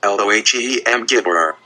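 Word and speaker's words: Elohim Gibor: ELOLM Gibber, pronounced LOHEM Gibber.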